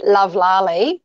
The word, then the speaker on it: Lovlali: I say Lovlali, You say and it's Lovlali. actually a contraction of the words love, laugh, live.